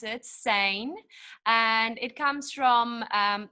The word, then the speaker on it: Sijnn: pronunciation of that word the name how i pronounce it sein and it comes from um the koi sun